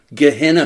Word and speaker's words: Gehenna: Gehenna three, Press. Three syllables.